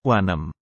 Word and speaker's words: wanem: Meski gaya pengucapan abjad, atau alfabet bahasa Tok Pisin itu menyerupai atau sama dengan gaya pengucapan abjad dalam bahasa Inggris, namun dalam pengucapannya di dalam susunan kata atau kalimat, itu menyerupai atau sama dengan gaya baca bahasa Indonesia.